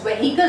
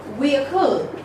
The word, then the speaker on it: vehicle: now, this is known as what many people pronounce it as vehicle. It is not vehicle. I'm telling you how it really goes. It goes in the way vehicle.